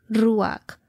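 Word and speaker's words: רוח: y decrecieron las aguas viento en hebreo se pronuncia ruak traducido como aliento viento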